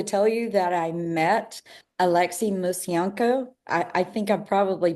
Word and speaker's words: Alexei Musienko: I have to tell you that I met Alexi Musenko. I I think I probably butchered your name just then. Did I say it right? No, you did a pretty good job. Yes, it's Alexi Museno.